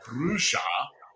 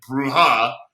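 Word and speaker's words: Brujah: Well, if they pin me down, I go, well, Brusha is how the Ventures say it, and Bruja is how they say it.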